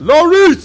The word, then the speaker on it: Loris: I learned how to pronounce Loris, or however you said I was saying it wrong. It's Loris. Loris.